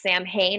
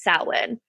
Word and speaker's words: Samhain: it would be pronounced Samhain or Samhain, because it's Samhain, but because it's Celtic or Gaelic, it's pronounced Samhain.